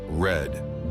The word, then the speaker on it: read: verbs stay the same but in cases like in Reed the pronunciation has to change in order to differentiate the present tense of the past tense but also we have